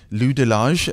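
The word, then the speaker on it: Lou de Laâge: international Emmys and ultimately that award went to Lou delage did I pronounce that correctly yeah and but you know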